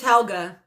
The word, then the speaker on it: Helga: It's Helga. That's how you say it.